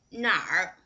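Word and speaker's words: 哪儿: Okay, 哪里 Okay, 哪里儿化哪里哪儿你去哪儿啊你去哪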